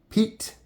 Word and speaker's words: Piet: We got that Morakniv Pro C today and the CRKT Vox Piet, I believe is how it's spelled, P-I-E-T, but I looked it up, kind of looks like it's pronounced Piet, not Piet.